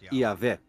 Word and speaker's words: Yahvé: Segundo um relato, Abraão conhecia Deus por seu nome pessoal, que costuma se pronunciar Yahvé.